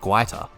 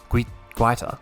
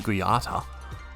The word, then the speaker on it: Guaita: I watched a video, they put a video on their social media where they each, a whole bunch of different players came up and pronounced their name for you, which is awesome. That's why I said Guaita. Guaita. Because I used to call him Guiata.